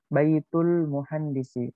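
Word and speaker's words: بيت المهندس: Di sini al-baitu al-muhandisi ya. Tapi kalau digabungkan langsung bacanya Baitul muhandisi.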